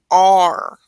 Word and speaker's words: are: know this R is So we're going to say R. So it's almost as if the A and the E aren't even there, because you're really just pronouncing R.